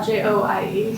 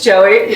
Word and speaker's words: Joie: And he Googles it, and I guess he gets that it's pronounced joie. Yeah. So he thinks he's being all like, you know, good of him, which is cool. Like he does research. And he said, how do you pronounce it? Joie? Like he was all proud of himself. And you happen to say, no, it's Joey.